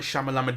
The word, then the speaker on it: Shyamalan: to be sure, and I'm pretty sure it's Shyamalan as we've been saying it.